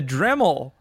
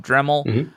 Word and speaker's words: Dremel: understand the lineage the dremel project originally came out of Google and that's like Dremel that's a phonetically similar to dreamy oh so I'm assuming